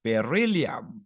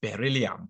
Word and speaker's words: beryllium: Then this is beryllium. I don't know how you're going to pronounce this, but that is beryllium, like that. Berry like that, like strawberry part, okay?